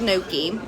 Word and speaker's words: gnocchi: It's spelled, it almost looks like ganache, but it's called gnocchi, and it's kind of like an Italian, I would call it like a dumpling soup.